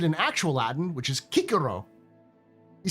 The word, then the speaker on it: Cicero: Cicero is a lot less serious when you pronounce his name in actual Latin. His name isn't Cicero. It sounds like very, regal. Almost noble. But when you pronounce it in actual Latin, which is Cicero, he sounds like a tiny little child.